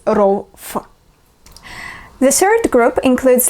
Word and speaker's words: ров: Oh, I also forgot to mention that when the letter V appears at the end of the word, we pronounce it not as V, no, but as F. So it's not rov, but it's rov.